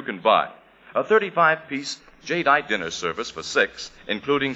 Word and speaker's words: jadeite: hockings amazing new kind of dinnerware jadeite now it's spelled jad e ite jadeite and jadeite has the color and texture